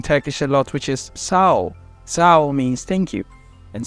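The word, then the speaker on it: sağol: a lot which is Sao Sao means thank you and so actually it also has a g over there and you don't pronounce it you just pronounce the O after the what after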